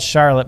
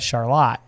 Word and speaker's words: Charlotte: It's spelled Charlotte, but we call it Charlotte.